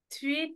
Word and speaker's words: three: I go to London three times a year. Three times a year. Three times a year. Alors le th comme ça du three, tu vas mettre ta langue comme ça.